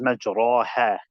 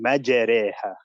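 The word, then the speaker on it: مَجْرٰىهَا: It's written as majraha, but it is pronounced as Bismillahi majreha.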